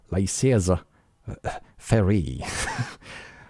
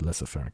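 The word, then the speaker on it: laissez-faire: by lesser fair capitalism i think that's how you read that not lysis faire uh uh lasis very capital i i was thought this this is this is pronounced lesser fair capitalism they are not defending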